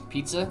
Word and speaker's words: pizza: Uh, the Z is pronounced like TS. Okay. Pizza.